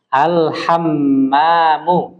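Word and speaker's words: الحمّام: al al alhamamu ah alhammamu alhamamu ah gitu Jadi ada tasdidnya di mim ya alhammamu Ah ya Jadi kalau ada tasydidnya alhammamu itu artinya kamar mandi tapi kalau misal Bapak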